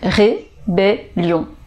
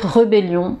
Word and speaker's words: rébellion: règles 2 l'orthographe donc ici vous avez le premier à eux c'est un accent aigu donc ré et ensuite vous avez un e suivi de deux consonnes doubles consonnes donc vous avez le sont donc rébellion révélons rébellion alors nous c'est vrai qu'on aurait tendance à dire rebellion je ne sais pas pourquoi mais non ces rébellions révélions noualhat alors un